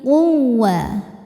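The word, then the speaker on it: القوة: Dzul quwwatil quwawah. Wau tasydid dibaca dengan nabr. Nabr itu menaikkan intonasi suara. Jadi enggak usah ditahan.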